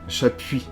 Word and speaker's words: Chapuis: Your name, how do I pronounce it? Chapuis? Yeah, Chapuis.